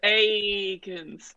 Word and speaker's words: Eakins: It's Eakins.